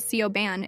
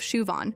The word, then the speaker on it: Siobhan: There's Siobhan, who gets called Sioban instead of Shuvon. And Guuan, who she pronounces like New Jen instead of Win.